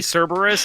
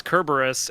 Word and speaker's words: Cerberus: Like people say Cerberus, and I'm like, no, it's Kerberos, and as a Smite player, it tilts people off the face of the planet that I pronounce it that way.